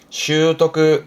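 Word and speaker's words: 習得: 발음은 슈토크, 슈토크.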